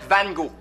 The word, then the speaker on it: Van Gogh: Van Gogh, pa. Ça se prononce Van Gogh.